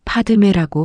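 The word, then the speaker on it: पद्मे: 반매는 산스크리트어로 파드메라고 발음합니다.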